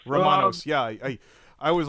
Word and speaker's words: Rumanos: Romanos. Romanos.